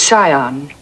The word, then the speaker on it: scion: of a prominent family the word is Sion the sea is silent yes well he looked